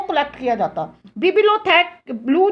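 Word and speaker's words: bibliothèque: अब बच्चों ऐसा था in France were the बिबिलोथेक blue.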